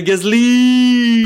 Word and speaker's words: Gasly: On the other hand, Pierre Gasly, he's having a great season. No, you need to say his name properly. Pierre Gasly! Pierre Gasly, exceptionnel! Come on, that's very 2020 talk.